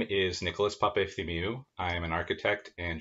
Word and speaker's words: Papaefthimiou: your origin story sure my name is nicholas papethi mew i am an architect and general contractor here